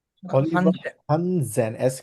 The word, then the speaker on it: Hansen: Hansen. Oliver Hansen. হানসেন, এস কে জেড এর মতো উচ্চারণ করি না?